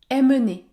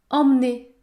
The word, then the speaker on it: emmener: ensemble le premier mot il ne faut pas dire aimer non tous les mots qui débutent par e m se prononce en il faut prononcer la voyelle nasale en comme dans le mot emmuré en Muret hormis